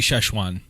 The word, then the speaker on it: Szechuan: shooting sauce fish one Szechuan Szechuan Szechuan dish I think actually it would be shesh one if you pronounced it correctly but we say Szechuan